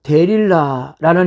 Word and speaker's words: 들릴라: 그리고 드릴라, 히브리 발음으로 데릴라라는 이름은 전형적인 셈족의 이름이었습니다.